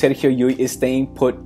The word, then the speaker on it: Llull: the NBA namely Serio yui please pronounce a yui not L it's dou l in Spanish is pronounce y Yi good there you go